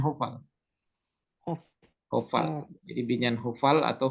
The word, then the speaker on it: hofal: Jadi binyan hofal atau hufal juga. Nah, itu orang baca itu pasti bacanya H.